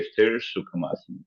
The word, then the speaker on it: स्थिरा: स स्थिरा ओके य अगर जब संस्कृत के वर्ड को जब जवाइन करके पढ़ा जाता है तो पहला ए जो है जैसे वो क्या होता है जैसे माया है चिन्न माया मुद्रा तो ए जो है वो साइलेंट करती तो चि मुद्रा ओके अंडरस्टैंड किया तो स्थिरा को जो है वो जब हम बोलेंगे कलेक्टिवली इकट्ठा तो बोलेंगे स्थिर सुखसर अंडरस्टैंड किया दोनों में फर्क या आप पहले मैंने